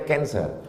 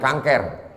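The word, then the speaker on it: cancer: darah menggumpal-menggumpal menjadi kancer tulisannya c a n c e r orang barat membacanya kancer orang kita susah menyebut kancer kenapa nih kanker maka menggumpol dia dalam darah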